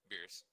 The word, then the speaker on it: Beerus: Beerus. Okay. Right. All right. So, Vegeta. Yep. Just think Goku, of Vegeta, yeah. Bulma, and Beerus.